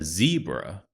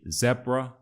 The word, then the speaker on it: zebra: So when we say zebra, Americans say zebra.